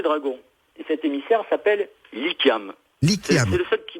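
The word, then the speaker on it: Likhiam: Et cet émissaire s'appelle Lykiam.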